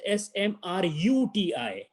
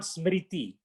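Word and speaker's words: स्मृति: It is Smruti. Smruti. The word is not Smriti. Smriti is a wrong thing. Smruti, smruti is the correct word.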